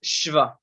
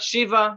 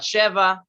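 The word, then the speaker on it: שְׁוָא: to be pronounced just shiva it's the short i like if or traffic it's a very very short sound so this standard would be shiva not shiva not sheva just shiva and shiva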